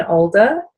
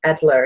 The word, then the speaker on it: Adler: So we can find out more about Jen Alder, and actually I pronounced that incorrectly, Adler, isn't it? It is.